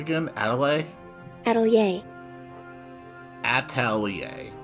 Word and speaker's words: atelier: how was that again Adelaide at all yay Atelier Atelier Adelia four distinct syllables understood upstairs I own a small Atelier